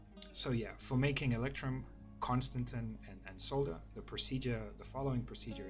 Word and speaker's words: constantan: Now the procedure really for making electrum solder, and constantan, which Google tells me is pronounced thusly. I have wondered that for a long time. Google tells me it is constantan, right?